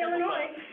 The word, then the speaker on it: Illinois: in the middle of illinois and yes the s in illinois is silent so um we really have a passion we can't pronounce tabletops but we can say illinois if you have any